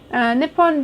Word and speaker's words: Nippon: Nippon being an older pronunciation of Nihon.